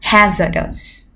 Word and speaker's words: hazardous: Các em có trọng âm của từ này vào âm tiết đầu tiên, hazardous.